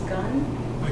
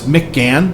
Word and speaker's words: McGann: Did I hear your last name was Gunn? No, it's McGann.